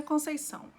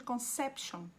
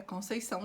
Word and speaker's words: Conceição: Então, quando eu vou para o México, para Cancún, eles me chamam de Conception. Concepción. Sim. Americanos, eles tentam e fica Conceição. Mas o meu nome não é pronunciado desse jeito.